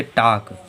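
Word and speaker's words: talk: टी ए यल के, तो टी ए यल के में के पहले यल आ रहा तो हम लोगों का यल साइलेंट है, इसे क्या पढ़ेंगे? टाक।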